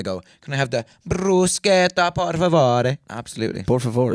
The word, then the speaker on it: bruschetta: That's actually pronounced correctly. Bruschetta.